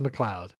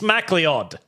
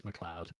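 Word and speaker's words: McLeod: It's a Scottish name. Oh, him then. It's It's pronounced Mloud. Oh, him. is Mloud. It's re It reads Mlead.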